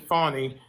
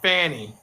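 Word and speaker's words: Fani: pack or no no her name is f a NN I and she pronounced it fonny but a lot of conservative with saying Fanny as Mr I found out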